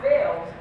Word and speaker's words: Fales: Now, Fales, spelled F-A-L-E-S, not F-A-I-L-S, originates from Old Welsh, meaning to be glad, or pronounced Fale.